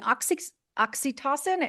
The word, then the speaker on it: oxytocin: Loretta is the author of Habits of a Happy Brain, a book about retraining your brain to boost serotonin, dopamine, oxytocin.